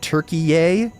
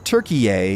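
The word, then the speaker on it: Türkiye: I'm gonna try to switch to saying turkey a in normal conversation so beak now or forever hold your peace Turks if you don't want to be turkey a with the emphasis on the last syllable and everything tell me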